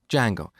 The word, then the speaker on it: Django: very popular framework called django so it's spelled with a silent d and it's pronounced django it's a web framework